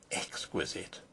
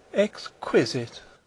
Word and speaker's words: exquisite: Baines have thought of exquisite exquisite she repeated the word with a sarcastic inflection putting the accent as everyone put it on the second syllable I don't think that